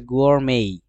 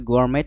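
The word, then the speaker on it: gourmet: সেটা হচ্ছে গোয়ারমেই। এটা ওই যে বুফেই যেটা আছে না, বাফেট না বলে আমরা বুফেই বলি, সেটা হচ্ছে গোয়ারমেট না বলে আমরা বলবো গোয়ারমেই। গোয়ারমেই কুকিং মানে হচ্ছে ভোজন বিলাসী রান্না, উড়াধুরা রান্না।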